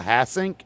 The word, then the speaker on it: Hassink: I have reached out to Paul Hassink.